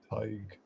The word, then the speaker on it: Tadhg: So to pronounce my name, forget about the spelling. It's like tiger without the so it's Tadhg.